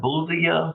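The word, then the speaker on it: Bulova: uh the one in there is a Bolivia Bolivia is how you say it it's about 600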